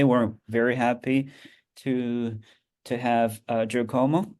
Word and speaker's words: Giacomo: today we're very happy to have Giacomo. Is that the right pronunciation of your name? Uh, That's right. Giacomo.